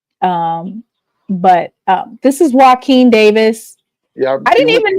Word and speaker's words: Walken: Yeah, I didn't even know how you how you pronounce his name, but I went to the North Carolina Central website and they say his name he's it's pronounced Wen Davis.